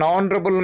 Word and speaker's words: honorable: An honorable man, H silent.